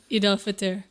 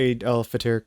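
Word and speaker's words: Eid al-Fitr: How do you pronounce this? Eid Al Fitr.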